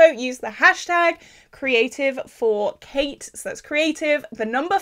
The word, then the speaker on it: Cait: the hashtag creative for Kate. So that's creative, the number 4, and Kate is spelled C-A-I-T, so not the traditional way, short for Caitlin, you know.